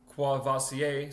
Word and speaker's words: Courvoisier: Courvoisier sign, so that's how I would assume you pronounce it, Courvoisier, because it's French.